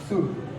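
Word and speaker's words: should: हम क्या करते है एल को साइलेंट करते सीधा पढ़ते है शड इसी तरह से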